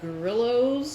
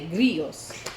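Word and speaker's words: Grillo's: At Costco, we buy these pickles called grillos, I guess is how you call them. I don't know. I assume that's how you pronounce them. My mother would say grillos, but it's GRILLO''.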